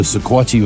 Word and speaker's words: Sequatchie: This is the Sequatchie Valley.